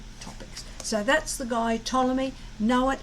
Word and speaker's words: Ptolemy: so that's the guy ptolemy know it it's a name it's unusual spelling because it's p t and we don't pronounce the p p t o l e m y ptolemy thank you enjoy